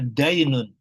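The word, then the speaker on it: دَين: dain itu satu huruf, urutan hurufnya sama, bedanya yang satu dibaca dinu, yang satu dibacanya dainun. Dain itu artinya utang yang harus dibayar, kemudian din itu agama.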